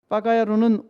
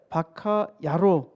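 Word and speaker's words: バカ野郎: 빠가야로는 우리식 발음이고 본래 바카야로라는 말인데, 바카라는 말은 바보, 야로라는 말은 놈, 그러니까 바보 녀석이라는 말 있죠.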